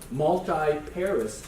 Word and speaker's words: multiparous: Okay, so think of how you pronounce this. You spell it multiparous, but that's not how you pronounce this.